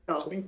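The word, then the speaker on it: クリント: you tell us again how the Japanese pronounce Clint's name? Can you say that? What do they call him? Kurinto.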